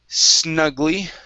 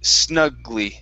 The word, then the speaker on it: snugly: is okay the word snuggly um okay so here you had said snuggly okay so let's take off that l sound this is going to be snugly snugly snugly good and your